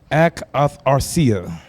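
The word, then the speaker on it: ἀκαθαρσία: Oh, there's a pronunciation down there. Akatharsia. Akarthasia.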